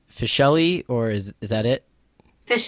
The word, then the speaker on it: Fisheli: are you good so as your last name pronounced fish le or is that it fish yes okay so fish le so I read your bio and it looks